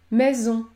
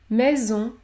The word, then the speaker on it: maison: Si les lettres AI se situent à la fin d'une syllabe, vous allez également prononcer un son plus fermé, comme dans le mot maison, maison. Vous entendez que le son est plus fermé que dans le mot faire, faire, maison, faire.